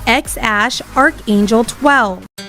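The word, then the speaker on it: X Æ A-12: So, according to the proud father, the name is pronounced X Ash Archangel 12.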